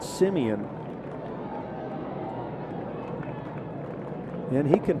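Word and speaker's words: Semien: Simeon at the plate he spells it s e m i n but pronounces it Simeon and he can pronounce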